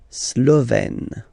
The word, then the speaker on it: Slovène: Remember, E accent grave, you open it, Slovène.